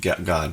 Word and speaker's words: Gad: It's pronounced God, but it's spelled like Gad.